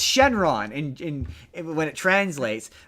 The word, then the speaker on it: Shenron: they they they okay they call Shenron Shen long which is like yeah okay technically speaking that's his name in Japan right that's but but that's